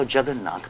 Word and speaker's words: Jagannath: They wrote back in a letter to England, I saw Jagannath, but they could not pronounce it properly.